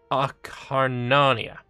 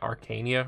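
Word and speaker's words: Acarnania: baosha thebes messinia and akharnanya lovely i've never pronounced this correctly i can i i always called it arcania or some like that um i love the argos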